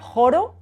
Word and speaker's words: ĥoro: the j; harmonio, 'harmony', the ĥ is pronounced like the Spanish j, ĥoro, 'chorus'; the j is